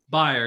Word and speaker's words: Byrer: Anyway, this is Byrer. Did I say it wrong? Byrer, yeah, that's pretty good.